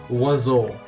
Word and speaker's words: oiseau: Oiseau. Okay, I completely mispronounced it then.